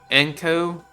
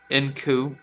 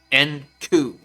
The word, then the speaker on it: Enku: basically using, which is Enko. Here you go. Yeah, Enku. Excuse me. And this is what I like about Nioh. It actually tells you how you pronounce it. Enku.